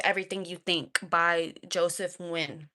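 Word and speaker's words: Nguyen: And I I got you with the with the book Don't Believe Everything You Think by Joseph Nuin Nuin Nun, however you want to pronounce it. It's pronounced Nuin, but it's Don't Believe Everything You Think: Why Thinking is the beginning and ending of your suffering.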